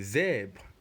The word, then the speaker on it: zèbre: Remember this E here with the accent grave is not pronounced E, it is E. That's why you get the sound zèbre.